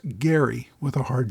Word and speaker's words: Gerry: So gerrymander uses a soft G while the person for whom it is named Elbridge Gary uses a hard G.